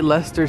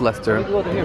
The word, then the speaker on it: Leicester: why does it say Leicester Square station hmm that's there yes how you pronounce it I think it's pronounced Leicester let me know in the comments down below UK people I think it's Lester Hey look at the